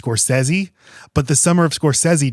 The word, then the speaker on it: Scorsese: I mean, the biggest issue, honestly, for me is that I know his name is pronounced Scorsesi, but the summer of Scorsesei just doesn't have the same ring as Summer of Scorsese.